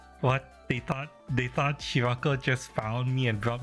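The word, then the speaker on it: Scirocco: This guy, Papepimus Shiraco from Zeta Gundam. His name is spelled differently, but it's pronounced Shiraco with a K sound after the raw.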